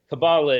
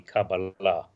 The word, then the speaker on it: Kabbalah: Kabbalah is simply the anglicized pronunciation. In correct Hebrew would be Kabbalah. Kabbalah. With the accent on the end, but either works, and I'll slip back and forth myself.